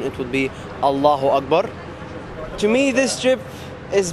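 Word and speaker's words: الله أكبر: It says in the name of God, and in Egyptian pronunciation or in Arabic pronunciation, it would be Allahu Akbar.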